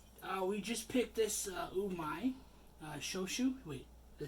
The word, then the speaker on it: Shochu: We just picked this Umai Shochu. Wait, did I say it wrong? Yeah, Shochu.